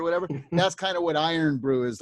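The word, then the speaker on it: Irn-Bru: one of their big local drinks is called iron brew it's spelled ir yeah there it is and the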